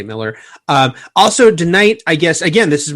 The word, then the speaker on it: Millar: Yeah, Miller world, yeah. That's right. It's spelled Millar but I think he does say Miller.